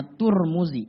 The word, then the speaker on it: Tirmidzi: dengan guru saya Hai Tirmidzi sebenarnya banyak jalan Pak dibacanya Hai ada tujuh jalan yang boleh baca dua jalan enggak boleh baca yang sering kita dengar di sini ada nggak di kamu setan namanya turmudzi Hai kalau enggak turmudzi Tarmadji karena jika rezeki